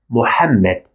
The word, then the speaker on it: Muhammad: popular name in Arabic Mohammed many non-natives used to spell it as Muhammad with h sound instead of hat sound but you better know